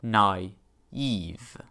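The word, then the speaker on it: naïve: diphthong respectively the i is pronounced on its own in a new syllable nai eve this diacritic goes all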